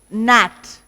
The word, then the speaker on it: gnat: Means it's all, so gnat, that's an insect. And gnome, that's a dwarf. So here all these places the G is silent.